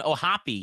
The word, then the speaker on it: O'Hoppe: all right we're gonna go with uh Logan ohopy yes it's pronounced like floppio hoppy uh he the uh